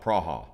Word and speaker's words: Praha: when you get there they call it praha or something like that but prague is awesome